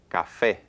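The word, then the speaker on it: café: stress so listen carefully Cafe Cafe well I hear two syllables and I definitely hear stress up that second syllable okay now notice the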